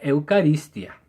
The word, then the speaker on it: eucaristía: la palabra eucaristía es un vocablo griego que se escribe eucaristía y se pronuncia eucarístia y significa acción de